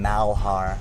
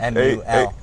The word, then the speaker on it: Malhar: Everyone says my name Malhar. Right. I can understand why. I have a fairly unique name, but Malhar, pretty simple. So we have to change that. M-U-L. It's spelled M-A-L, but you pronounce it M-U-L.